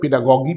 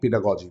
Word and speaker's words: pedagogy: হ্যাঁ, এটা পেডাগজিক্যাল grammar, উচ্চারণ দুটোই হয় পেডাগজি, পেডাগজি, বোথ আর কারেক্ট।